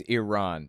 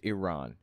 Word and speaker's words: Iran: especially with Iran uh where it's Iran that's how it's pronounced Iran does this guy know